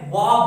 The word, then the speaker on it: は: ये जो पार्टिकल है इसको प्रोनाउंस किया जाता है वा बोल के, लेकिन लिखने के टाइम में हम लोग हिरागाना अल्फाबेट हा को लिखते हैं।